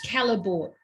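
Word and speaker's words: Callebaut: We've got problems with pronunciations tonight. Anyway, it's Calabo. Sorry, what? It's Calabo.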